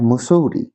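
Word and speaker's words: Mussoorie: এখন ইউ আর ট মুসরি এটা উচ্চারণটা মুসুরি এখন তুমি আছো মুসুরিতে এন্ড আই এম in Allahabad.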